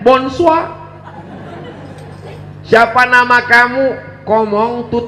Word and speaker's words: bonsoir: Tulisannya Bonjour bacanya Bonjol tulisannya bonsoir bacanya Moon Sua siapa nama kamu ngomong